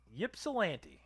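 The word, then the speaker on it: Ypsilanti: town being a michigander it is yps I L NTI is that yip yip yip yip salant yip salant well that is where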